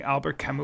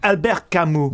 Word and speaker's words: Albert Camus: It was almost like what something Albert Camus would write. Kind of like a stranger in a strange land. All right, yeah, that's maybe a little lofty. I pronounced it wrong. Albert Camus.